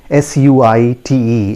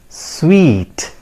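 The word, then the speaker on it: suite: the purpose right friends so the correct pronunciation of this word is listen to me carefully s-u-i-t-e it is pronounced as sweet right and what does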